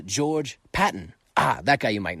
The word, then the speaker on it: George Patton: Who was George Patent? Oh, that's cuz I got his name wrong. Let me try again. Who was George Patton?